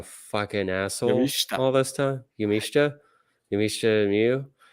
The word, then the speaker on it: Miyu Yamashita: Thunder Rosa's match with Miyu Yamashita. I've been saying Miyu Yamashita like a fucking asshole all this time. Yamashita Miyu. The whole thing with Japanese U's are almost never pronounced.